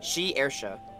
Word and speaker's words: Shiersha: This is how you say it. Shiersha. So yeah, you say she and then air and then sha.